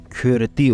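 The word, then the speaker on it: Cyrti: Latince'deki C, K olarak okunur. K. Y de Ü olarak okunur. Dolayısıyla CRTI yazımı Kürdi olarak okunur.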